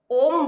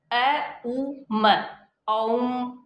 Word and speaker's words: ओम: तो वास्तव में जो हम इसका उच्चारण करते हैं वो ओम बोल देते हैं, जबकि इसका उच्चारण अ उ म, ओम होता है।